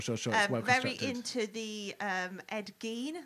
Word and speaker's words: Ed Gein: very into the um ed gene i believe that is the pronunciation ed geen ed gein just like body parts